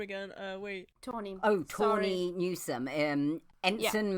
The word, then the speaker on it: Tawny: And then we also have, I'm so sorry, don't know the ensign name, voiced by Tanny Newsome. Tanny? It's just you trying to pronounce name again. Wait. Tawny.